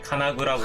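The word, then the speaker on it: 金具: 금속 장식을 카나구라고 하고요, 쇠망치를 카나즈치라고 해요.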